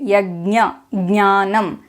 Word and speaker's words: यज्ञ: ganam and follow them in the South we pronounce it this way yag ganam we pronounce the n Sound but we bring in a g sound before it I can confirm this